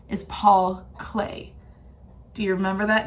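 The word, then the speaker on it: Klee: that name because remember we thought it was clay like what we play with or we create pottery out of but no his name is not spelled CLA why it's spelled K L e e Paul clay now we watched a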